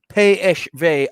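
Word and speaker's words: PSV: they signed him from i'll do the dutch pronunciation should i phv eindhoven there you go um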